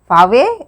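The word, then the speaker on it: sake: Fave is a popular Japanese drink. SA is pronounced like FA in father and KE rhymes with way. So it is known as fave.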